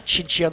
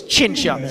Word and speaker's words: Cinzia: I, of course, pronounced the thing wrong. It was Cinzia, sorry.